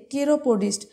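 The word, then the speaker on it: chiropodist: বলা হয় কি কেরোপজিস্ট দেখো এখানে সি দিয়ে দিয়ে শুরু হচ্ছে স্পেলিংটা মনে রাখবে কিন্তু এখানে উচ্চারণটা কের কেরোপডিস্ট নেক্সট এ ডক্টর হুট ট্রিস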